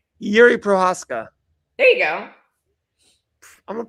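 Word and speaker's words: Procházka: Yuri Prohaska.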